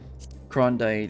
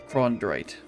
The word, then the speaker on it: Chondrite: Like, I got some manganese ore, Krondite, and some raw star quartz, which and ambrosial water. All 4 of these are used for Grand Company turn-ins. Like right now, it's actually Chondrite. That's how you say it.